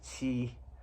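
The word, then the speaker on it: 乞: So the left part of this character is means mouth, and this part on its own is pronounced qi, which is kind of similar to this, and it means request or to beg.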